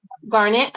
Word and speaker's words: garnet: Garnet or ganette or something. Garnet.